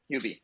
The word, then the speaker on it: Huobi: And actually, yeah, on the I'm sorry, how do you pronounce that? Huobi? Is that correct? Huobi.